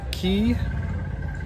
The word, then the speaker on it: Cay: this morning at the great stirrup key or maybe it's the great strip k we keep hearing it called both things it's spelled c-a-y we arrived first thing